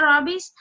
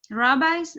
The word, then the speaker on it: rabbis: so who was the Robbie's they were the Jews leader or Jews scholars sorry it actually pronounced to rabbi rabbis okay desert no hurry